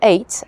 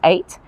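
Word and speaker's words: eyot: Um that's an eight. An eight is a little island. It spells aot but it's it's pronounced eight.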